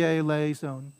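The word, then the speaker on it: eleison: lei zone right so this is one of four syllables right a la e zone and so do i stress the lay or do i stress the the e right and so the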